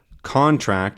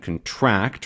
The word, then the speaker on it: contract: this one's contract um the first one when they have the stress at the beginning like in contract or object that is a thing you're talking about a physical thing in the world a contract is something you sign an object is a thing you can hold but to object is a is a thing you do a to contract is